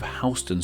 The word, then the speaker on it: Houston: sure you can see there has an identical name to a city in Texas and while they are spelt the same they aren't pronounced the same which believe me I found out about in my neighborhoods or NYC video in Texas we have the city of Houston were NYC with Houston Street though I must wonder